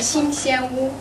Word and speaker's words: 新鲜屋: It's pronounced "新鲜屋."